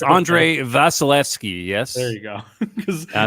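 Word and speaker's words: Andrei Vasilevskiy: His name I don't want to try to pronounce. Yeah, Andre Vasilevsky.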